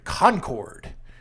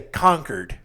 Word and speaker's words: Concord: We're in Concord. I say Concord just to piss people off, but it's Concord around here. The one in New Hampshire is Concord. But down here we say our syllables sometimes.